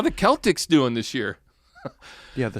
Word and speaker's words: Celtic: I think because we're pronouncing it wrong. So it is Celtic. I never even really thought about it until recently. Boston Celtics, right? You wouldn't call them the Celtics, but it probably should be the right.